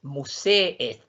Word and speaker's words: museet: Entonces aquí pronunciamos las dos E y es museet.